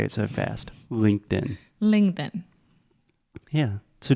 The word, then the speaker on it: LinkedIn: LinkedIn LinkedIn yeah so just imagine try it with the true T first Linked In Linked In okay now try it with a stop to Linked In linked and perfect it's almost like it doesn't even exist it's very subtle but it's super super important the different variations of